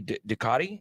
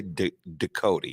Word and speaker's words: Ducote: Jay Ducati? Is that how you say his name? Yeah, no, Jay Ducote, yes.